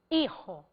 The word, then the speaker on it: hijo: Então eu quero falar padre e hijo. O fonema de Y é I. O fonema de HI é I, porque o H é mudo foneticamente em espanhol.